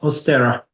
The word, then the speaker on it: Oss’stera: Is that how you pronounce it? yep, Oss'stera.